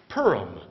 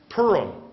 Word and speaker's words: Purim: and to this day Purim Purim it's like the town but it's not spelled the same okay the last sentence of chapter 20.